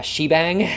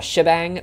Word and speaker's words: shebang: bang so we have hashbang which over the years I guess got shortened to just shabang it's if you Google